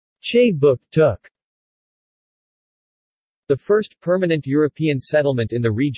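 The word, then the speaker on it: Kjipuktuk: Jipuktuk, pronounced Che Book Took.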